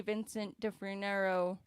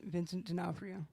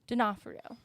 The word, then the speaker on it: Vincent D'Onofrio: i i agree i hope they get the vincent de frinero i can't pronounce it vincent d'onofrio d'onofrio yeah supposedly feige was really sold on him